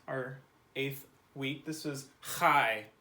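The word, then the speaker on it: חי: This was chai. It's kind of like saying hi, but with that noise. Chai.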